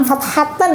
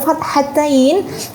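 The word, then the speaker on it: فتحتين: Jadi menyebutnya bukan fathatan ya teman-teman, tapi fathatain, kasrotain, dhammatain atau dhammatain, kemudian tasydid dan juga sukun.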